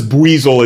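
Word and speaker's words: Buizel: but like it's also its name is buzzel. It's not b, which like I just found out how to pronounce this like last year.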